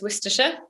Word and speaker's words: Worcestershire: If you're from the UK, you know that you say this Worcestershire. If you're not from the UK, you'd be forgiven in saying it lots of other ways. Worcestershire isn't necessarily the immediate way you'd say it.